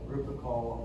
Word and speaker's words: Lupercal: Lupercal. Lupercal.